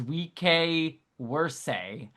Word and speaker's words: vice versa: Technically, the proper way to say the phrase vice versa is we worse and good luck finding anyone who actually does it.